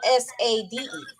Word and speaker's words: Sade: So it's not an H, but it is spelled S-A-D-E. Yeah, it's spelled S-A-D-E, but it's pronounced Sade.